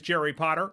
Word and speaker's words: Jerry Potter: My name is Jerry Potter. Yes, it rhymes with the boy wizard, host of the Social Media Marketing Talk Show, a production from Social Media Examiner.